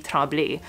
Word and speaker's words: Tremblay: So her last name is Tremblay, which in French would be Tremblay.